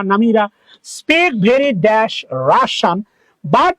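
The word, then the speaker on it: Russia: Dash রাশিয়ান, রাশিয়ার উচ্চারণ মনে রাখবা, রাশা, নট রাশিয়া, রাশান। তাহলে রাশিয়ান শর্ট মনে রাখবা, রাশিয়া। This is নট রাশিয়া, this is pronounce রাশা।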